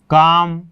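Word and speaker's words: calm: हो गया, इसमें भी पहले एल है तो साइलेंट हो गया। उसी में देखिए बहुत सारे ऐसे, जैसे हम लिखते हैं ना, पाम, काम, हाफ, ठीक है ना, इस टाइप से ये जो वॉक वगैरह।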